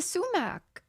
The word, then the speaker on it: sumac: What the fuck is a sumac?